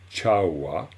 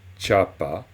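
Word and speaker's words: བྱ་བ: Et donc, on dit chawa, qui veut dire l'action, et non pas chapa ou chaba, pas du tout. On dira chawa.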